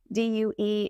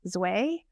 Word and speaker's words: Due: In Vietnamese, DUE is pronounced Zue. And so I know that confuses some people.